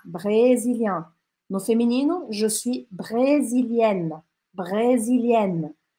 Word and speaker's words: brésilienne: No feminino, je suis brésilienne. Brésilienne. A diferença, tá? Que você pronuncia aqui no feminino o N, tá?